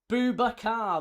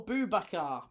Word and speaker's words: Boubacar: Boubacar, that's 3. Yes, there you go. Boubacar, correct.